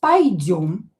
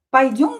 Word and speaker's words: Пойдём: Рита сказала, "Пойдём Пойдём." "Ё" is always stressed.